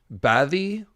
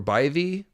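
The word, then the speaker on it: Badb: She is a triple goddess, and her other aspects include, I think it's Bathi or Bathi, that word that looks like B-A-D-B. It's not pronounced like that at all, but that's the vulture form.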